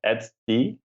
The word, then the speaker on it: etcd: Etcd. Is that how you pronounce Etcd?